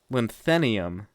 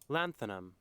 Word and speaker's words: lanthanum: Lanthanium. Lanthanium. How do you say that? Let's find the pronunciation. Lanthanum. Lanthanum. Okay.